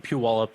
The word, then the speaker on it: Puyallup: And I ended up wandering onto the BFRO site, and they had a recording of that Puyallup. Is that how you say it? Puyallup scream? Puyallup, yeah.